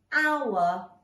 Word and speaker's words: hour: spell the word hour there is a silent H in that word at the beginning of the word okay so we can't hear the H but it is in there otherwise it becomes the